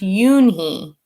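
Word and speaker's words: Unhei: It's spelled U-N-H-E-I. It's pronounced Yoonhee.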